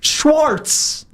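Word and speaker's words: Schwartz: It's Schwarz.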